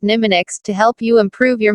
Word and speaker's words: mnemonics: strategies for improving memory called mnemonics pronounced nimah Nix to help you improve